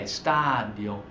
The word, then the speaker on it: stadio: So stadio is accent on the a, stadio.